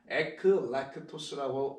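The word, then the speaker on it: ἐκλεκτός: 그래서 에클렉토스라고 이렇게 발음한다 이렇게 한글로 써드리는 거니까 이해해 주시기 바라고요.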